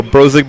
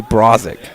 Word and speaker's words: Brosig: last name to pronounce all i heard growing up and through high school was people wanted to call me brazick or they got an a instead of an o i have no idea